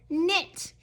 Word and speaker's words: knit: Silent K on this one. It says knit.